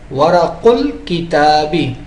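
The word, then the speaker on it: ورق الكتاب: اب اس کو کیسے پڑھیں گے؟ ورق الکتابی، تو یہ الف ساقط ہو گیا.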